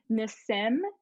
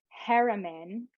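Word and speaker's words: Nassim Haramein: so you'll enjoy this miss sim and i know that sounds like i'm saying it wrong but that's how he says it n-a-s-s-i-m heremin which is h-a-r-a-m-e-i-n so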